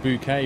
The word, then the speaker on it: Bucket: welcome to the community Miss bucket yeah but she pronounced it bouquet because she was like Posh about it I don't know why